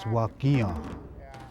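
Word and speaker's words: Wakinyan: My Indian name is Thunder, pronounced Wakian, and I go by the name of Dave Chief.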